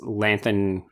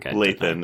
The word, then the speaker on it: Lathan: really saying something, because Lathan is not in this enough to. I said her name wrong. Lathan. It's like Nathan, but Lathan.